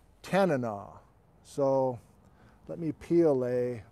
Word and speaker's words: Tanana: I've had many viewers say, you're saying it's not Tanana. It's not like banana, even though it's kind of spelled like it. Like, I'd love a banana. I'd love a Tanana.